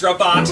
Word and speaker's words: Rabat: is not that it but it doesn't rhyme with cat it's robot no it's not heard